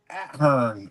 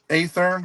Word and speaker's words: Athearn: What about Ahern? Athearn. Chet from Billboard's Bills was Athern. Athern. Is that how it's pronounced? Yeah, that's it.